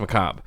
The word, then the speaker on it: macabre: the pronunciation thing like I know the word is pronounced McCobb but when I hit